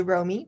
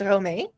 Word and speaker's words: Romee: English speaking people, you can say Romee, but it's Romee.